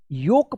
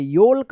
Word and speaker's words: yolk: योक पढ़ेंगे, योल्क मत पढ़िएगा, योक पढ़ेंगे।